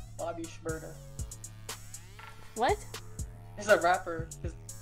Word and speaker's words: Shmurda: S.H. Murda, like murder.